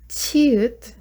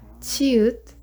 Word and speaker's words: 치읒: Next one is 치읒. So this one's like sound, so chair, 치읒.